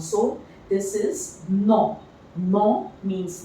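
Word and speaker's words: nom: So this is no. No means name. Again, the pronunciation will be same.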